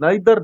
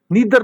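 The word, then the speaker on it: neither: नाइदर नार, नीदर नार भी इसको पढ़ते हैं, नाइदर नार भी पढ़ते हैं। ईदर आर, आइदर आर, ठीक है। ये दो तरीकों से इनको आप प्रोनाउंस करते हैं, लिहाजा इनको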